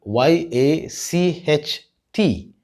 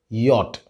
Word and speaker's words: yacht: This word is spelled Y-A-C-H-T and pronounced as yacht.